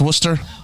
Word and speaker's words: Worcester: where it's well it's spelled worcester but it's pronounced worcester i like that what's that what's that what's